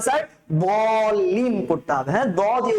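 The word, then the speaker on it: ضاد: আমরা কিন্তু আজকে দেখেছি দদ, এই দদের উচ্চারণটা কি দোয়াত, হ্যাঁ, দদ। বেসিক্যালি কি আমরা সোয়াদ দোয়াত বলি না, এই দদের উচ্চারণটা দ দিয়ে হবে। কি দিয়ে?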